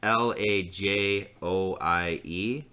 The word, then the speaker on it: Lajoie: It's Lajoie is how you say it.